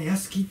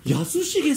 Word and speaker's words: 泰樹: やすき、あ、そう、やすきさんかと思った。あ、やすしげさんって読むんで